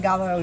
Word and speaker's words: Gallo: And then Del, D-E-L, and then Gallo, G-A-L-O. I'll type that in the comments section. And it's so weird because in Italian you actually pronounce the double L's, while in Spanish it's gallo.